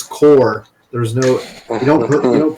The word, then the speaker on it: corps: a French word and we don't pronounce the p and the S so it's just c-o-r